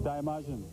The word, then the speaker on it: Daimajin: In the Seattle paper, it talked about, how do you pronounce this? Daimajin. Daimajin.